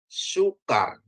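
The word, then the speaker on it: סוכר: Dari samek ya, samek dibubuhi dengan kubuts ya. Maaf ya kubuts, terus ada kap ya, ada dages ya. Kalau ada dages dia jadi ka ya, dan tambah res ya, jadi bacanya sukar.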